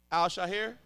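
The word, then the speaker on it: Al-Shaair: Al Shaher.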